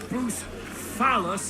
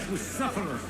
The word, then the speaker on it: Bucephalus: What kind of name is Bruce Phallus, anyway? Pronounced Bucephalus.